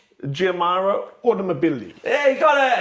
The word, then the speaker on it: Giamaro: Yeah, and I want you to pronounce the manufacturer's name. The manufacturer's name, Giamaro Automobili.